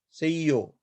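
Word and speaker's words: seyyo: Say yo, yo. Due to this join letter, we pronounce this one as a short vowel, not the long vowel.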